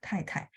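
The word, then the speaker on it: 太太: 太太 pasangannya 先生 gitu ya, 太太. 太太 nya pakai T ya Bu Esther ya, 太太. Jadi dia memang bacanya TH, cuman tulisnya T gitu.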